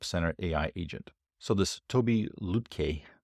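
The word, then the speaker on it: Tobi Lütke: So this Toby Lutke, I believe it's pronounced, so he's the founder CEO of Shopify, but he did something like this, more with less.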